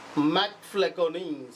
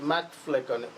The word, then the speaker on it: MacFlecknoe: मॅकफ्लेकोनी. Spelling काय आहे बघा? MACFLECKNOE. मॅकफ्लेकोनी.